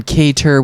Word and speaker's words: Kattar: to our map man calvin k tur with the t um we're gonna go